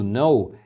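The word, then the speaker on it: know: é não ou nenhum o segundo no é o verbo saber ou conhecer então você já percebeu que esse k não é tá então é um erro comum principalmente de alunos iniciantes pronunciarem esse k tentar falar que no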